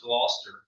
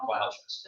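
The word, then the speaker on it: Gloucester: you North Jersey I it's pronounced gler County not glest thank you because every time she would say glest like where who is this gler County ler is the pronunciation okay so um yeah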